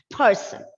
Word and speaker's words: person: the first syllable and the word should be pronounced as person right taking care of the uh plosive pa and obviously when a letter r comes before a consonant there is a tendency off for that letter r to go silent okay so it's person person now this is the unstressed syllable so it is not sun it's sun person again we are bringing